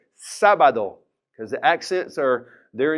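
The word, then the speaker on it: sábado: got that exit there it's three syllables so normally we would stress that middle and stop bad though but the accent comes in and says I'm changing the rules I want you to say the first syllable is stronger so we're gonna say Saba though because the exits are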